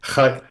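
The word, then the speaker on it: חיות: Chayot.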